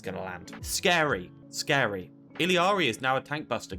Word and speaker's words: Illari: It is Illari. I'm just bad. That's actually the correct pronunciation.